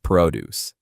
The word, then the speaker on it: produce: For example, I'm looking for fresh produce. The second one, produce. It's a verb. This means to make or to create something. This one has the stress on the second part.